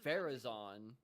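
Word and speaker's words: Faruzan: Ferraon.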